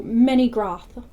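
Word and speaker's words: Menegroth: And the reason why I'm saying the O like that is because in the first video I talked about the O having an octopus sound. So it's groth, oth, bra, It's always octopus.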